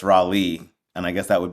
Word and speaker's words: Rawle: to say it or they would pronounce it raw and they like I'm so sorry if I said it wrong. I'm like no that's right. And then I would say it's Raleigh.